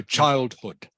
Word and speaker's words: childhood: yeah childhood childhood okay both both those syllables have the same emphasis the same stress knock two so childhood she spent much of